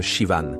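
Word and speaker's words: Siobhan: Je m'appelle Sioban. Le H est muet. Ça se prononce comme Shivan, plutôt simple, une fois qu'on l'entend, une fois.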